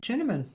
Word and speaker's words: Juenemann: is my guest uh junan Jun junan that's correct right yeah I did it I